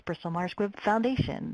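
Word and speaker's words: Bristol Myers Foundation: stress a lot that it's Bristol Mars Foundation. They always put the emphasis on the last word.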